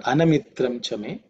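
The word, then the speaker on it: अनमित्रं च मे: Because of Sandhi, the A is silent with Avagraha, but Anamitram Chame is the mantra.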